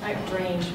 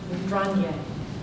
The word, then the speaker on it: Drange: Drange, it's not even how you pronounce it. It's very Drange. Perfect.